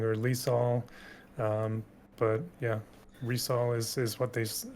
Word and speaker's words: Rysol: I was calling her Lisa um but yeah resale is is what they how they pronounced it actually in the story Mission okay so I've been calling her rice all uh I literally filmed my character review today